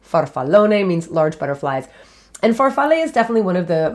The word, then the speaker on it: farfalle: to you i think and that is farfalle farfalle f-a-r-f-a-l farfalle means butterfly well technically farfalla means